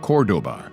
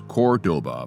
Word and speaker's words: Cordoba: cities together stays together Chrysler took some poetic license with the pronunciation of Cordoba the cities may be known as Cordoba but the cars all